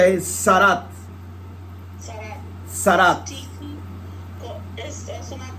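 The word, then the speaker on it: tzaraat: Se pronuncia ahí Sarat.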